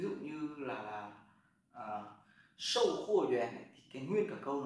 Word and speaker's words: 员: Cái này bạn đọc là yuán nhé.